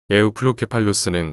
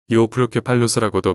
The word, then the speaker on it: 에우플로케팔루스: 에우플로케팔루스는 백악기 후기 북아메리카에서 발견된 공룡류 공룡이다. 속명의 뜻은 잘 무장된 머리. 이오플로케팔루스라고도 표기한 경우도 많이 볼 수 있는데 이건 영어 발음대로 표기한 것이다.